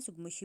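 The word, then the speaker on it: tsutsugamushi: ये सुगमुशी जो है, ये टी वाला स्टार्टिंग वाला जो अपने साइलेंट रखना है, सुगमुशी बोलते हैं इसको।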